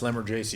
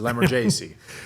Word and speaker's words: Lamorgese: So no one gets it correct. It's properly pronounced Lamorgese. You got to use your hands when you say it. It's Italian, right? So Lamorgese. And for the audience, we are both Ohio guys.